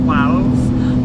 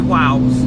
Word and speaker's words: Wales: I have to say it like that, Wales. Otherwise I say Wows, as in W-O-W-S.